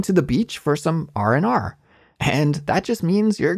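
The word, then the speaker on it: R&R: I said this expression the D sound in and isn't pronounced so we don't say r and r instead we smush it together and delete that D sound so it's just RNR RNR RNR okay it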